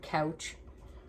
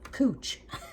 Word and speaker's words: couch: are actually called it looks like the word couch but it's actually a cooch is how um the gentleman uh arnold pronounced it so um it says